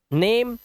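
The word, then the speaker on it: name: अब यहां पर ई जो है लास्ट में है तो इसे पढ़ते हैं बाइक, हमारा ये साइलेंट होगा, ठीक है। इसी तरह से लाइक, नेम, चेंज।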